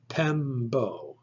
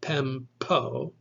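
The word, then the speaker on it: πέμπω: This word is pronounced pembo, pembo. You should not pronounce the P like a normal P. It's not pempo, it's pembo. Can you hear the difference? Pembo.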